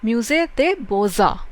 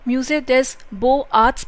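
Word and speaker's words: Musée des Beaux Arts: थोड़ा सा difficult pronunciation है बिकॉज इसको फ्रेंच में बोलते हैं म्यूजे दे बोजा। अगर आप इसकी इंग्लिश प्रोनाउंसिएशन देखते हैं तो होगा आप उसको म्यूजे देस बो आर्ट्स भी बोल सकते हो, अदरवाइज म्यूजे दे बोजा।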